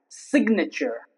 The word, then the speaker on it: signature: For example, signature. Here, both Z and N are pronounced.